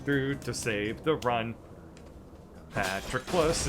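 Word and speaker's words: Patroclus: to save the run patrick plus is how you actually pronounce his name patrick please is not the real name at all with all my mind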